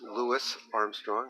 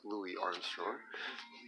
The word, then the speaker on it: Louis Armstrong: And there's we've got Louis Armstrong, pronounced Louis Armstrong, not Louis Armstrong.